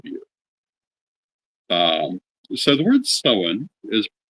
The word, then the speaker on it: Samhain: English-speaking point of view um so the word seen is spelled s m ha a i n because of that many people who don't understand the pronunciation pronounce it as Sam um in much the same way that they